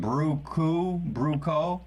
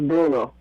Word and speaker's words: Bruno: Is that your name or your nickname? Bruco? My name is Bruno.